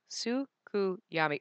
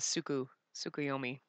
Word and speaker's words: Tsukuyomi: Tsukuyami. It says Tsukiyomi. They typed his name wrong. Yeah, they did Suki instead of Tsukuyomi.